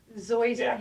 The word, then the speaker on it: Zoysia: name of the sod because it's always yeah Zoysia how do you spell it z-o-y-s-i-a okay it's like Bermuda but more